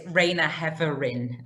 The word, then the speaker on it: Raina Heverin: thanks reina um well have i pronounced your name correctly rayna herrera the co-founder of supplyworld you have yeah it's raina heverin okay well i should